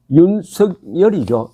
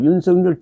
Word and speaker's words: 윤석열: 윤석열이죠.